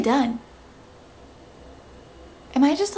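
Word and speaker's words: Dunne: Claflin Billy Dunn which I always thought it was Billy Dune it's Billy Dunn am I just like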